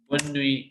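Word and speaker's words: bonne nuit: ठीक है, तो यहाँ पे हम क्या बोल रहे हैं, बॉन, डबल एन आ गया, ई हम प्रोनाउंस नहीं कर रहे, बॉन नुई। यूआई sounds like we वी वी, बॉन नुई बॉन नुई, टी हमने बोलना नहीं।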